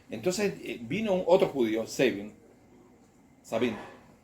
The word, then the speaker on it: Sabin: Sabin, Argentina decimos Sabín, pero es Savin.